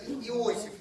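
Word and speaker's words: יוסף: Ну, Йосеф это мы это Иосиф называем, но читается Йосеф.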